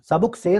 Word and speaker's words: سبک سیر: ہے اور سبک سیر، اس کا اصل تلفظ کیا ہے؟ سبک سیر ہے، بہت تیزی سے آ رہا ہے، وہ آپ کو لے کے چلا جائے گا پورا ریلا.